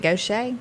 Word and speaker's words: Gautier: It's spelled like Gautier. Yeah. Isn't it? Yeah. But it's Gaucher, I guess.